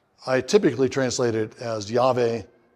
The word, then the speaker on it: Yahweh: typically translate it as yve it's a it's a way of pronouncing those four letters of the the the name of yve uh and the reason